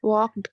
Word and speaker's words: walked: Walked, cleaned, painted. Walked, clean, painted. Okay, according to the standard pronunciation, standard British pronunciation. The L is silent.